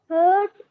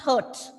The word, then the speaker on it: heart: So, and one more thing, H-E-A-R-T is pronounced as heart, not hurt. Okay, it is heart. You have to open your mouth and say heart.